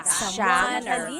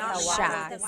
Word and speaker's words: siya: And then you're talking about mabait siya, he or she, mabait siya.